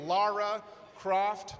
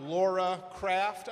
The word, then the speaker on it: Lara Croft: I knew, though, no one had to tell me it's Lara Croft, not Laura Craft.